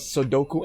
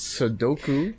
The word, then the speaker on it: Sudoku: Number one, yeah, it's Sudoku, or pronounced here, Sudoku.